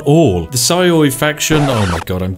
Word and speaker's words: Sioux: The Saioi faction, oh my god, I'm just so bad at doing this, I'm actually gonna have to Google it. How to pronounce, there we go. Sue. Seriously, it's just Sue.